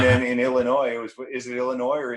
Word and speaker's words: Illinois: in illinois is it illinois or is it illinois well no the s is silent so that's where my